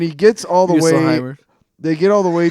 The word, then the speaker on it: Muspelheim: But we should go down to, Muspelheim. Muspelheim. Look how it's spelled. Just because it's a U does not mean it has to be you.